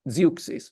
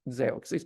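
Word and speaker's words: Zeuxis: actually existed as a person but this guy zis pronounced in English as zis but you spell it z e x i s and the Greek read it zois but never mind now he was famous for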